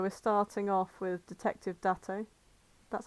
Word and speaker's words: Date: view and so we're starting off with Detective dato that's how you pronounce his name that's a yeah and uh